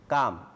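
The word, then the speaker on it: calm: Harbour is blue and কাম, এলের উচ্চারণ নেই।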